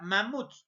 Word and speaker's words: mamuts: mama pero también tienes la palabra mamuts en este caso la mayor fuerza de voz está en la última sílaba pero esta última sílaba